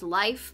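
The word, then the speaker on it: Leif: thing with leaf or my friend who's from Norway says pronounced life but I'm probably be calling him leave yeah I wanted to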